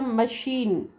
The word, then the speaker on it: machine: Here you can see that that's a machine, right? Machine and mechanism, right? So here ch is pronounced as sh, and in this case same combination of word is pronounced as k.